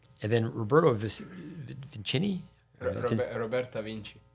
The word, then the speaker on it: Vinci: Roberta Vinci. Vinci.